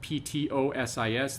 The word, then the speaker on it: ptosis: separation of ptosis that p-t-o-s-i-s the p is silent so ptosis meaning a